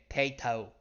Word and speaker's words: Tato: And yes, that's how you say it. Tato.